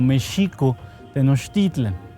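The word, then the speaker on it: México-Tenochtitlan: El nombre, nosotros lo deberíamos pronunciar muy estrictamente como Mexico Tenochtitlan. Co es el lugar de Meshi.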